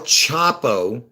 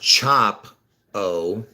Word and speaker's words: Chapo: Luther King is was killed on 4-4 El Chapo chop the O the e-l Elvis has the e-l chap o even though it's it's pronounced chop o born four four look at that he's born